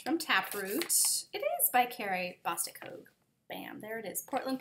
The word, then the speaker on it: Carrie Bostic Hogue: It is by Carrie Bostic Hogue.